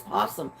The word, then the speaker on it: possum: said well I know pronouncing it right I pronounce it like everybody else does it's posum it's not o possum I just thought it